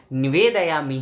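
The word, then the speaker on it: नैवेद्यम्: अब आते हैं हमारे पांचवें सवाल पर कि नैवेद्य होगा या नैवेद्यम, हमेशा नैवेद्यम होगा। नैवेद्यम म हलंत, नैवेद्यम, नैवेद्यम म हलंत, ये होगा।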